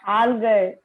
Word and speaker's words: algae: Spelling is ALGAE. Algae. But how we have to pronounce it? That is what I want. We have to pronounce it as algae.